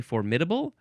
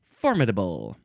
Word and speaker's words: formidable: of those syllables and I sort of go back and forth. I think I typically say formidable for some reason. That one just seems right to me. But I also I hear people say formidable.